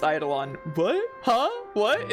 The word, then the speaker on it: Eidolon: Eidolon.